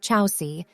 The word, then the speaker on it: Chausie: a good fit chauzy the name chazi pronounced Chelsea derives from the Latin